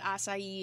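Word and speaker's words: açaí: really good i mean i don't know what acai is am i saying it right you are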